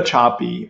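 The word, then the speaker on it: Sapi: Eva Choppy, her name is spelled S-A-P-I.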